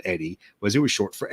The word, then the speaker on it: Oedi: So a lot of people sometimes say Odie. A lot of the guys I've worked with have called me Odie, but it is actually pronounced Eddie, even though it's spelled OEDI.